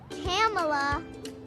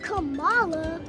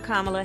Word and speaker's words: Kamala: Kamala. It's not Kamala. It's not Kamala. But she still had to teach the country how to say her name. I'm Kamala Harris.